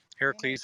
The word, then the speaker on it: Heracles: Heracles, as his name is actually pronounced, not Hercules. I know. But who actually pronounces it the way it's supposed to?